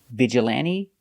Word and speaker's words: vigilante: they're very special because they end with e but the e is not silent we pronounce them all the same with a long e like green beans hyperbole vigilante and epitome thanks for watching and